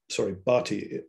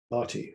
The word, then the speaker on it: Bertie: Although Satow's immediate point of contact was the Assistant Undersecretary, Francis Bertie, Bartie, I think is the correct pronunciation, even though it's spelt B-E-R-T-I-E, Bartie, Francis Bartie. It was Saunderson, affectionately known